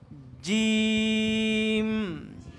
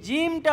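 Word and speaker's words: جيم: এটার নেম আমার সাথে সাথে বলো, জিম। এই জিমটা উচ্চারণে এটারও একটা মাখরাজ আছে। মাখরাজ আমরা পড়াবো না এখন, আমরা বলবো, দেখো বর্গাজ্য আছে না বাংলাতে? বর্গাজ্য বরিকার মতো করে এভাবে শক্ত করে উচ্চারণ করতে হবে।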